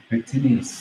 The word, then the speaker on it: pectineus: How do you pronounce it? Pectineus.